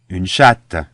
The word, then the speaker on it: chatte: So here again the last consonant, the T of chat, which is silent, becomes double T's in the feminine, and it's no longer silent.